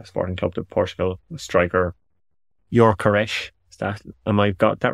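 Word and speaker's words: Gyökeres: Striker the the sporting club the Portugal Striker yores that and I got that right yeah I think I think so Victor yores is is I think the the pronunciation the Swedish Striker um at sporting um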